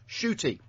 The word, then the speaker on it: Ncuti: Butch has corrected us and said Ncuti, as it's written down phonetically, is pronounced shooty.